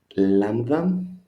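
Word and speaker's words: λάμδα: Lambda, you see, is capital and the small one, lambda. Pronunciation, no problem, sounds like an L in life. So live, life, lambda.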